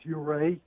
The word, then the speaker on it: Ouray: Sam in Ouray, Colorado. Am I saying it right, Sam? Pretty close. It's Ouray. Ouray.